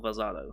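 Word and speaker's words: Velzard: Or Velzado in the subtitles here? Because once again, it's one of those names where it's got like multiple listings. Let's see. They pronounce it Velzado, but it's written Velzad.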